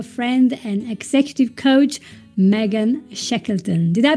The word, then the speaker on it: Shekleton: Austin, Texas, our friend and executive coach Megan Shekeleton. Did I pronounce this correctly?